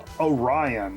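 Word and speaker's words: Oreyeon: Orion, and it's spelled O-R-E-Y-E-O-N. That pisses me off.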